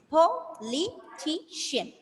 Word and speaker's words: politician: Yes, politician. So Riza, how will you pronounce this word? Stressing on the second last.